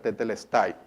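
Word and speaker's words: τετέλεσται: ya todo fue completado la expresión consumado es en griego se se pronuncia tetelestai y las primeras letras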